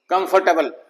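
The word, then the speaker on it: comfortable: कंफर्टेबल, तो इस तरह से ये ओ साइलेंट है।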